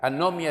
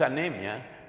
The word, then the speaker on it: anomia: Anomia, no es anemia, sino anomia.